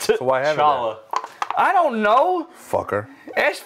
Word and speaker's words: T'Challa: Stand he T'Challa, visited man. His it's father just Chala, and other spirits. Right. It's the T is silent. So why haven't T'Challa.